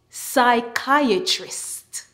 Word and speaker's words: psychiatrist: be looking at PS when you see PS in a word the p is silent PS says s let's go psychiatrist psychologist psychic psychology Psychiatry